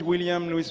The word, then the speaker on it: William Luis: I'm sure that after eight months Adnan has been able to pronounce correctly William Lewis. I'm sure at the end of this week he will be able to use and to add Mari at the end. My name is William Luis Marie.